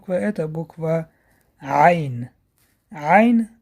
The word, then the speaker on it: Айн: Айн образуется в середине части горла.